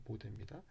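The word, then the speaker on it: Bode: 이 보데 독일 사람이라 보드라고 읽으시면 안 되고 보데입니다.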